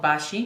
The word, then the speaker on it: Baci: you've probably seen it in stores it's called Bashi b a c i which means kisses in